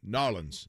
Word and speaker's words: New Orleans: We're going to go to New Orleans or Narlands. See, I said it right that time?